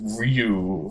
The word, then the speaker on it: Ryu: Actually, it's pronounced Ryu, first of all.